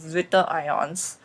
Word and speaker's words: zwitterion: properties of amino acids and the formation of Zwitter ions. Okay, so what is a Zwitter ion? First of all, it is spelled ZWITTERIONS.